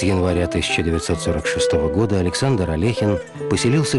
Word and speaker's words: Алехин: этим господин был чемпион мира по шахматам александр алехин и минут до как правильно произносится его фамилия внезапная смерть шахматного